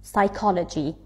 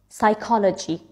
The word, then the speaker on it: psychology: start with PS like psychology psychology p is silent words that start with